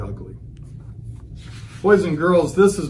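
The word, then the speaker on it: ugli: Jamaicans pronounce the name oogly, but we'll call it ugly.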